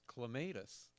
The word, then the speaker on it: clematis: While I was researching that, I also found a third pronunciation that they use mostly in England, but a few places in the United States, and it's clematis. Clematis? Clematis. Oh, Yeah, wow. that just sounds wrong. Uh, Yeah. I think don't know about that. clematis is mostly an English pronunciation, British pronunciation, I John, should will say.